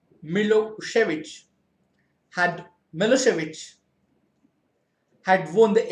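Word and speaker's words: Milošević: A narrow-minded Serb nationalist Milosevic, pronounced Milosevic, had Milosevic had won the election.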